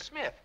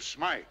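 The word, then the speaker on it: Smythe: ever heard I suppose your name is Smith no it's Smite spelled with a Y oh that's the English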